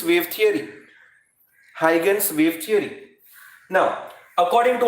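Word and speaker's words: Huygens: wave theory now many people pronounce this as eugene you can pronounce the way you like but the correct pronunciation is heightens wave theory heigen's wave theory now according to hydrogen's wave theory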